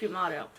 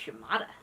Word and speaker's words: Yamato: Battleship Yamato Space Battleship Yamato and see I said it right cuz on Saturday all I could say was Yamada I remember I've been